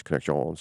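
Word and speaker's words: Connexions: So, the word the name of connections is spelled the French version. So, it's C O N X I O Ns. So, I make the Bugs Bunny joke. It's connections, you know, so that people understand that because they constantly try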